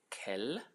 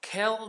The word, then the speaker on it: quel: It's quel. Quel. It's not quel. Many of you English speakers call it quel. Okay, that's English pronunciation. This is quel. Quel, like Kelly.